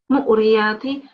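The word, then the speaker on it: موريات: And then mu'riyati. It's not with a ayn sound. It's just mu'riyati.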